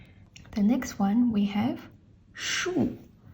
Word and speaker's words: 竖: It has the same pronunciation as the tree, so it's kind of interesting.